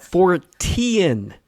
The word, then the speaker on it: Fortean: Fortian as in Charles Fort. Ean.